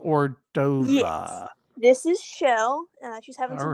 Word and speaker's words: Chell: Yes, it's actually Shell. Excuse me. She's named after the character from Portal, but we found a Shell gas station, so it's spelled like. Oh, okay, I got Shell, you. But we say it like Shell.